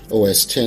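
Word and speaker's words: OS X: If you're still not convinced, you can actually get your Mac to say OS 10 aloud in the terminal app.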